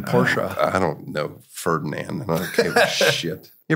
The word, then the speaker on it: Porsche: I'm positive you're right are you supposed to say Porsche or Porsche Porsche you're supposed to say it like that ah well I don't think I can do it Ferdinand Porsche who created the company that's how he pronounced his name porsa I don't know Ferdinand